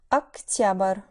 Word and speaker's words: октябрь: Октябрь. В октябре. Ноябрь. В ноябре. Декабрь. В декабре. Notice how the stress shifts sometimes and causes vowel reduction. Октябрь, but в октябре.